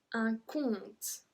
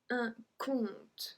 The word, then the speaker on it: compte: Numéro 28, un compte. Un compte. We don't pronounce the P.